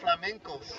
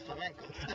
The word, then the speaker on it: flamencos: Beautiful flamencos. That's the Chilean pronunciation of flamingos. Well, you know we're in Chile, so it's flamencos.